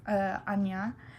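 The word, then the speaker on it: Ajna: But okay, so third eye, which is pronounced Anya, which means to perceive, is purple, or the moon's light.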